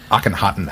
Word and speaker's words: Akhenaten: No, it definitely doesn't look like Doesn't it's spelled. know. Akhenaten.